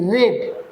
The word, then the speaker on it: read: এবার পড়া, আর ই এ ডি, রেড। তোমরা তো জানো রিড, রেড, রেড। Pronunciation change হয়ে যায়, V2 V3-র জন্য স্পেলিং একই থাকে।